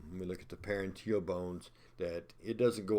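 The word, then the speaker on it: parietal: And I said parental, I meant parenteal. It's easy to move that in, up, or just a few letters and mispronounce.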